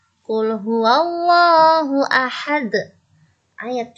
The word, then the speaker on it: ahad: Nanti membacanya begitu ya, ahad, bukan ahad. Ya, itu salah.